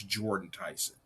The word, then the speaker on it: Jordan Tyson: And I know I I mispronounced his brother's name and I apologize. It's Jordan Tyson.